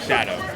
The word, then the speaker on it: Shyado: Shyado.